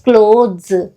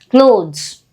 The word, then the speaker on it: clothes: not pronounce it as clothes or clothes the sound becomes very soft almost we are skipping it clothes clothes so clothes are